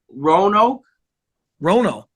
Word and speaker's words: Roanoke: Roanoke.